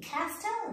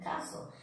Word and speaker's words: castle: C-A-S-T-A-L, castel, no, castle.